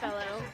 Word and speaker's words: Rockefeller: Is it Rockefeller? Yes, Okay. Rockefeller. Jessica Rockefeller from Illinois. Yes. And how do you pronounce the name of your town?